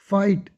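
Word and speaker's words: fight: लड़ना, फाइट, टी से पहले जी एच साइलेंट, ठीक है।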